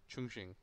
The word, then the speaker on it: Chongqing: Welcome back, everybody, to the major qualifiers for the upcoming major in China, in the city of Chongqing. Well done. Which is how Charlie told us to pronounce it.